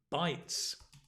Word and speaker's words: bytes: not an expert but you also have bites as in eating food same pronunciation right bites which is to